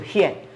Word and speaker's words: 憲: 即卖爱读作显，就是咱即卖来看这显显这调无。